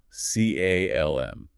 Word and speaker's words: calm: C A L M. The L is silent.